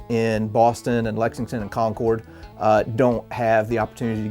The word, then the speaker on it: Concord: in the comments over my pronunciation of Concord instead of saying conquered um I I've decided that I'm going to to stick to my guns and I'm going to stick with Concord and here's why take